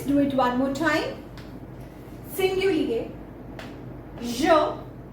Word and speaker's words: singulier: In French, singulars are pronounced at singulier and plurals are pronounced at pluriel.